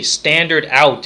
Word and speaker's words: stdout: a specific name it's called STD o UT standard out is is how it's pronounced but it's st dou T so the